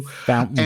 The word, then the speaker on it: Fontainebleau: Fountain Blue.